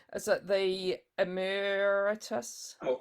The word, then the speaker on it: emeritus: Graeme's I don't know if I'm going to pronounce this correctly. Is it the emeritus? Oh, emeritus.